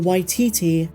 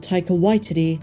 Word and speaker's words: Taika Waititi: just a side note I used to pronounce it yti but in every interview he calls himself taer Whitey so I'm going to go with his pronunciation the JoJo rabbit director